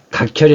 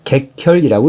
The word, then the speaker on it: 객혈: 그래서 이때는 각혈이 아니라 객혈이라고 읽습니다.